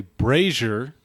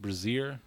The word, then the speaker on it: brazier: There is a brazier in the center of the room. Did you guys know that word was not pronounced brazier? Brazier.